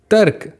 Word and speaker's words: तर्क: दोहराइए तर्क। यहाँ पे आप देख रहे हैं ना, र का उच्चारण पहले हो रहा है क्योंकि रेफ ऊपर लगी है।